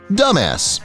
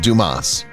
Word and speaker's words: Dumas: The ad featured actor Stu Williams, who portrayed a polite employee correcting a customer who mispronounced his name as Dumbass instead of Dumas.